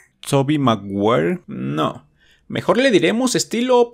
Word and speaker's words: Tobey Maguire: estilo es Toby tobey aguanta como pronunciar Toby maguire en inglés tobey maguire No mejor le diremos